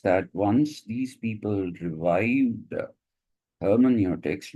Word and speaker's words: hermeneutics: EU is pronounced oi in German.